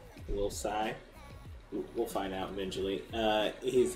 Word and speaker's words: Tsai: Tsai? Will Tsai? So I'm pretty sure the T is silent. Will Tsai.